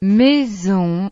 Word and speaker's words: maison: La letra S entre dos vocales y la letra Z se pronuncian. z, Es el mismo sonido que en la palabra inglesa. music, Por ejemplo, maison, que significa casa, o zèbre, que significa cebra.